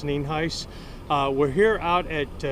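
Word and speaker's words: Nienhuis: County Sheriff Al Neen ice spelled n-i-e-n-h-u-i-s and it's pronounced Neen Heist uh we're here out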